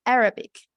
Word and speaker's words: Arabic: Entonces, Arabic. Aquí esto se pronuncia con el acento en la A.